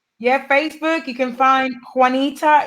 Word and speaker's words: Juanita: Facebook you can find Juanita is spelled like one like don't one foreign ITA Juanita and in my last